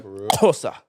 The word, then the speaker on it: Xhosa: I swear to God, the Xhosa. That's how you say it. You spell it with an X and the X is the click.